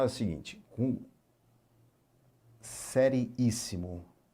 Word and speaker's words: seriíssimo: Sílaba tônica está na antepenúltima. Isso aqui é uma proparoxítona. E como todas as proparoxítonas são acentuadas, o acento aqui deve ser colocado, né? Proparoxítona, isso, proparoxítona. Então, muito cuidado com a palavrinha seriíssimo, tá?